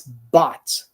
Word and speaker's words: bought: It's bought, bought. It sounds like B-O-T. Soa realmente como se fosse escrito B-O-T, bought, right?